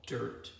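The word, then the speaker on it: Dyrt: Now, I was using an app called Dirt. It's spelled D-Y-R-T.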